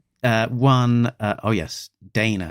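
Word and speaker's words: Daina: Um, so one uh uh one uh oh yes, Dana, it's spelled spelled even even funnier. D A I N A.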